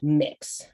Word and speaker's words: Mx.: In case you're wondering, by the way, the MX is pronounced mix if you're using that in verbal language.